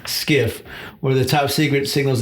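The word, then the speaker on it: SCIF: skiff over at Battalion a skiff was a sensitive compartment and information facility pronounced skiff where the top secret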